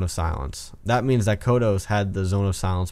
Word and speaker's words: Kodos: And I say Kodos because that's the pronunciation for the Simpsons character, so Kodos it is.